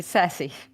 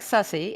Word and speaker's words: sassy: You mean sassy? Yes. If you say it like sussy, it means I'm suspicious.